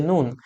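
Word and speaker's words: نون: নুন উচ্চারণ করার জন্য আপনাকে এত কিছু জানতে হবে না, জাস্ট সিম্পলি উচ্চারণ করবেন নুন। আমরা বাংলা ভাষায় লবণকে নুন বলে থাকি, সেইভাবে আপনারা উচ্চারণ করবেন নুন, নুন।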